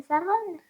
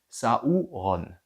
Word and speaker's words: Sauron: Comme Saron. Comme comme alors saon c'est juste ça c'est pas tout à fait exact c'est faux techniquement ça se prononce saouron donc sauron faut le dire assez vite saon tout le monde